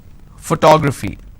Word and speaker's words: photography: is also my hobby photography okay if I have to break this into syllables how many syllables do I have four two graph fee which means I